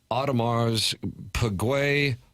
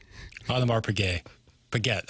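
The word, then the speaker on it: Audemars Piguet: Uh Warswood's wacko probably uh camping out for an Ottomar's Paguay watch. Otmar Payette, I'm sorry. Otmar's Paguette. Thank you for the pronunciation correction.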